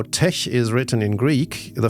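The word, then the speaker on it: TeX: Insiders pronounce the X of tech as a Greek chi, not as an X, so that tech rhymes with the word blech.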